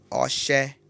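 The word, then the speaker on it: ọṣẹ: Sabonete se pronuncia-se oxé.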